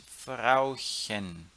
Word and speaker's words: Frauchen: Frauchen. Eu posso falar Frauchen. Embora tenha um U ali, eu pronuncio hen, tá? Para marcar que é diminutivo.